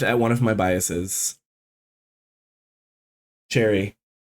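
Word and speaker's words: Choerry: ] you're supposed to I think technically the the Korean pronunciation is closer to like Cherry there's there's kind of like a weird dip thong in the middle but since I'm American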